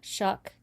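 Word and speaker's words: Shough: pronounce it right Shuck.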